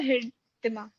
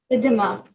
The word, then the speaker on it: Riddhima: It's Riddhima or Hiridima? Ridhima. The H is silent.